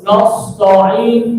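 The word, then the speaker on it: نستعين: Iyyaka na'budu wa iyyaka nasta'in. Ya. Iyyaka na'budu wa iyyaka nasta'in. Nasta'in. Nunnya tipis na. Jangan no. Kalau kita ucapin na, itu semua sinnya tebal, taknya dua tebal. Nasta'in, nasta'in. Nah, sinnya mengalir.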